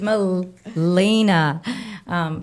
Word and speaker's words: Milena: Milena, I keep saying your name wrong. I've known her for years, but it's Milena.